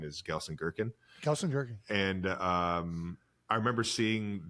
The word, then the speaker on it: Gelsenkirchen: I remember being in Gelsenkirchen, Germany. And you know what? Love, what did you just say? Exactly. Gelsenkirchen. Love is him learning that. Yeah. That's a city? He came to Gelsenkirchen.